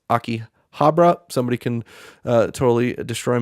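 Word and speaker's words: Akihabara: a neighborhood in Tokyo called I believe it's pronounced Aki Habra somebody can uh totally destroy me in the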